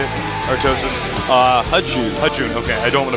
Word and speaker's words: JiTaeHoon: Now, you know, our Terran player, I'm sorry, I feel like I'm going to mispronounce his name. How do I say it? Artosis? HiTaeHoon.